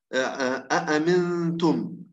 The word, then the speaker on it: أأمنتم: الآن نأتي إلى بعض الاستثناءات، نحو قوله تعالى أأمنتم من سورة الملك. اختلف الرويان في ذلك على حسب التفصيل التالي. طبعا له الإمام ابن كثير بشكل عام تسهيل الهمزة الثانية حسب القاعدة، كيف ستنطق؟ أأمنتم، أأمنتم، أأمنتم.